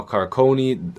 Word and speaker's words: Carcone: Now Carcone, apparently that's how you say his name.